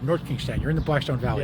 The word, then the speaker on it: North Kingstown: I always mix this up, NK or SK? North Kingston. North Kingstown. You got to say it right. North Kingstown.